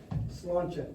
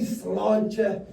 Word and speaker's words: sláinte: The pronunciation is just more. How I like to say it is sláinte. So, on the count of three, we're going to raise a glass. Full or empty, say sláinte as loud as you can to do a